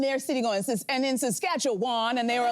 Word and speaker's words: Saskatchewan: I did not know that you don't say Saskatchewan, you say Saskatchewan. Yes. And so I was on the air in their city going, and in Saskatchewan, and they were like, please.